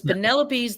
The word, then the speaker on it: Penelope: Yeah, because Penelope's his wife is Odysseus' wife. It's pronounced Penelope.